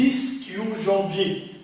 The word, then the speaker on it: ischio-jambiers: ce qu'on appelle les ischio-jambiers. D'après certains auteurs, on les prononce en tant qu'ischio-jambier. Ça s'écrit avec un I-S-C-H, ischio ou ischio-jambier. Tout dépend de la prononciation et des régions.